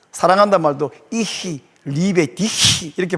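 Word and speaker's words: Ich liebe dich: 계시히 이렇게 그 사랑한다 말도 이히 리베디히 이렇게 발음해야 된다고 그랬었데.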